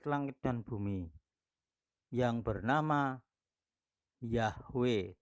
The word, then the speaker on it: Yahweh: dan bumi yang bernama Yahweh tulisannya dalam bahasa aslinya yaitu Ibrani adalah yogurt hwahae dibaca dari belakang dan bacanya yahwe barangsiapa mengenal nama Sang